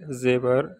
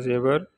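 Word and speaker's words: زیور: And we pronunciate in Rome like zebra, Z-E-W-A-R, zebra.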